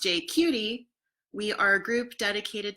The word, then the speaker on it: JQT: and I help run JQT Vancouver. Pronounced "J-cutie", we are a group